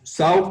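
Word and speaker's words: SOW: Preparar el Statement of Work, o SAW, como se pronuncia en inglés, o los que nosotros conocemos como términos de referencia.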